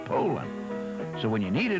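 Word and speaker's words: Poulan: Well, it's pronounced Poland, not Poland or Palin. It's Poland.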